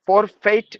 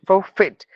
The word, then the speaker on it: forfeit: the z sound executive facial fasten fatigue forfeit for fate no forfeit JRE giraff giraffi no the animal giraffe graffiti